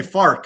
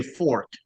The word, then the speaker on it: American Fork: American They say Fark up here. Almost Fark. Yeah. But I say Fork.